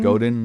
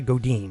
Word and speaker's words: Godin: Is it Godin or Godin? Godin. I always pronounce it Godin. It's French, so it's probably Godin. Godin.